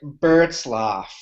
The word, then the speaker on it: Burtzlaff: Twitter just staring at his handle Eric Eric berlof yes you have it that's impressive usually usually